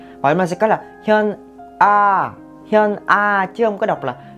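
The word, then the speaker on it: 현아: Không có ai tên là Huynh A hết, mà cái từ Huynh này các bạn nên đọc là chữ Hyun. Đọc nhanh là sẽ đọc là Hyun. Vậy mà sẽ có là Hyun A chứ không có đọc là Huynh A nha.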